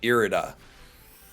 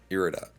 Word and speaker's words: Irida: I think someone said it's like iridescent, so it's like Irida. Irida.